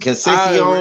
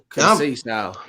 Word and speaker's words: Conceição: Pronounce it. Conceição. His name is Robinson. His name is Robinson. Conceição.